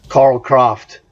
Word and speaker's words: Karl Kraft: Karl Kraft. Is how you would pronounce this correctly.